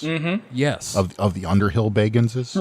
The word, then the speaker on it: Bagans: Of the Underhill Baganses? Right. He actually specifically pronounces his name Bagans because his actual name is Baggins, but he hates when people say that.